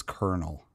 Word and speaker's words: colonel: It is weird that how that word is pronounced as Colonel.